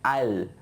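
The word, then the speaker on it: I'll: আই উইল না বলে আমরা কি বলবো, আইল। আবার আইল। জমির মাঝখানে হাঁটার জন্য যে আইল আছে ওই একই উচ্চারণ হবে, আইল।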